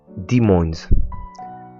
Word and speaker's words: Des Moines: Petit coup de traduction à prononcer Demins, ça vient du français, nom qui avait été donné par une colonie qui était là précédemment.